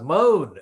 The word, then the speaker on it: Mone: Tory Pierre Michelle Mone is spelled M-O-N-E, but she actually does moan, M-O-A-N, as she aggressively attacked